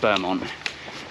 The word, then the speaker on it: Beaumont: It's spelt Beaumont, but I think in the book it said it's pronounced Beaumont.